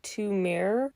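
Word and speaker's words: Il Mare: I believe it's pronounced two mare, Roman numeral for two, M-A-R-E. It means the sea in Italian.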